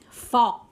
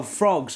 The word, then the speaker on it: frog: I hate this thing fog fog oh frogs right frogs ah I know that one yeah not not fog as in like the weather but like yeah fog